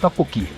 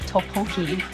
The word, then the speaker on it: 떡볶이: Yeah, 떡볶이. Why did they spell it totoki? That's true. I saw it on like TikTok and stuff. Some people started to pronounce it topoki in America.